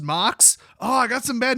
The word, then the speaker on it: MOCS: Also, it's called the MOCS, which is pronounced Mox.